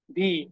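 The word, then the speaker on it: We: কে বলে হচ্ছে কি ভি হ্যাঁ ইংলিশে আমরা বলি হচ্ছে ভি তারা বলে হচ্ছে ফাও এন্ড সেইম ভাবে দেখেন যেটাকে হচ্ছে আমরা ডাব্লিউ বলি ইংলিশে সেটাকে তারা বলতেছে ভে ভে ভে ওকে ভে এই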